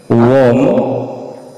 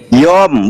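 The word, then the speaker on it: יוֹם: Waikra Elohim Larakia Samyim Waihi Erep Waihi Boker Wom Seni. Yom, bukan wom.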